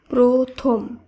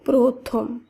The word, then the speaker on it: প্রথম: ও হিসেবে করতে হবে তাই পয়রফলা থ ম এই শব্দটির উচ্চারণ হবে প্রথম অর্থাৎ এখানে পয়রফলার উচ্চারণ প্রভাবে উচ্চারণ করতে হবে তাই শব্দটির উচ্চারণ হবে প্রথম একইভাবে দয় ফলা বুধ্য